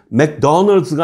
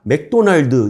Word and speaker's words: 맥도날드: 중학교 교과서 읽으실 수 있는 수준이면 맥도널드가 아니라 맥도날드 이렇게 읽을 수 있는 수준이면 읽어주세요.